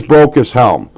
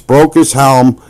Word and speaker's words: Brocas Helm: And I I'm I'm going to pronounce it correctly, guys. It is Broke as Helm. I I'm I'm a a Midwesterner, and sometimes we just don't get it right. It's Broke as Helm.